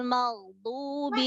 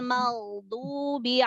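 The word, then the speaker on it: المغضوب: Siratal ladzina an'amta 'alaihim ghairil maghdubi 'alaihim. Nah, maghdu. Ma tipiskan. Maghdu. Maghdu.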